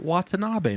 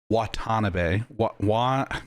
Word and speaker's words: Watanabe: So the last mode is called Watanabe mode.